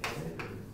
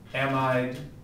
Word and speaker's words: amide: Is it amide? I believe the two pronunciations are amide or amide.